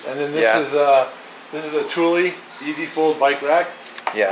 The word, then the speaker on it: Thule: You guys said it's pronounced Thule.